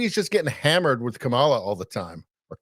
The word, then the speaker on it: Kamala: all the time or Kamala I can't remember how you say it it used to be uh Kamala and then they changed it to Kamala they corrected everybody but it was like the first one for like two